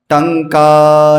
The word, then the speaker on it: टंक: शिला टंका, तो टंक है, टंका नहीं है, तो उसको लंबा खींच लेते हैं।